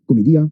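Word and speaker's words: Commedia: have the divine comedy comedia the way dante would have pronounced that title and it's a comedy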